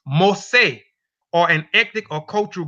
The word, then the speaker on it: Mossi: according to recent and the ethnographic mu C pronounced most say or an ethnic or cultural group of farmers